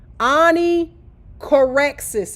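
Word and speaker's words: Onychorrhexis: Anie correexis is how you pronounce it. Anie cororexis.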